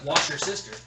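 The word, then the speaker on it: Worcestershire: I believe it's pronounced wash your sister.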